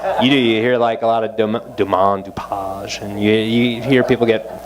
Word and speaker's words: Domaine DuPage: So again, it's called Domaine Dupage. People get really French with the pronunciation. The brewery's settled in beautiful DuPage County, Illinois. That's the name. So you hear a lot of Domaine Dupage, and you hear people